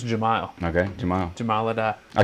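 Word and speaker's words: Jahmile: I'm going to I mean, correct that pronunciation too. I think it was Jamal.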